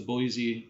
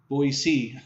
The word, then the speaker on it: Boise: the Salt Lake City the Boise Boise I'm I'm told to pronounce it correctly Boise Idaho Boseman Montana and